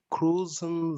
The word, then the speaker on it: kreuzen: And how do you pronounce those two letters? It's not U. What? Crazy. How? Come again? Could you repeat it, please? Ew. Oi. Oi. Exactly.